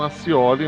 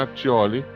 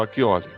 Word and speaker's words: Accioli: Muitos falam Accioli, mas a pronúncia correta italiana é Accioli ou Acchioli.